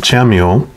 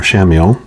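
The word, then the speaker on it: Chamuel: energy the powerful archangel chameleo or shamil i think depending on how you say it is holding a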